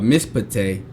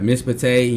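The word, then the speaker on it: מִשְׁפָּט: The first of two continuous side by side shaws within a word is silent. For example, the shawah under the shin of mispate is silent and the shawah under the pay is vocal, right?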